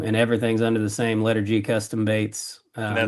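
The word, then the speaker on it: LETR G: Um and everything's under the same Letter G Custom Baits uh name, so. L E T R Yep. space G. Yeah. So you say it like you're saying the letter G, but the I guess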